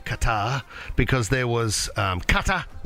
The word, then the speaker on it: Qatar: The official pronunciation of my country is Qatar. Qatar. So go ahead and close your throat a little bit. Make sure you say ta instead of ta, and you get Qatar.